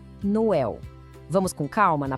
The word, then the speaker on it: Noël: Ele mostra que a gente tem que pronunciar o O e o E separados. Vamos de novo, bem devagar. Noel.